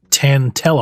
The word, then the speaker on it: Tantel: so you'll notice it says a variation of tan tell armor because it's spelled t-a-n-t-e-l tantel but early on the server